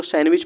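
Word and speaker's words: sandwich: एस है सी है तो डी हमारा इसको सैंडविच पढ़ते हैं सैंडविच डी हमारा साइलेंट है यहां पे क्वेश्चन नंबर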